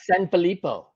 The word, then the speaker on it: Sanfilippo: i'm pretty sure you said it right alex sanfilippo yeah san felipo i mean no one ever gets it i